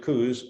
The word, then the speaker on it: Coos: The annular eclipse in October of 23 crosses Oregon, and believe it or not, there's the town of Coos, Oregon. They pronounce it Coos.